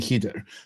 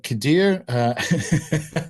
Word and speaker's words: Khidr: The Islamic story of Moses and Khidr, and that's spelled like Khidr, and I'm going to try and say Khidr because that's closer.